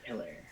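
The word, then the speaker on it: Helaire: rookie that's how you say it clyde edwards hillary um that's a big knock on him is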